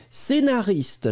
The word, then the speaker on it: scénariste: que nous cherchions scénariste vous l'écrivez SC le prononce pas e accent aigu na r i S T e scénaris scénariste ça n'est pas ce scénariste c'est vraiment scénariste et la dernière chose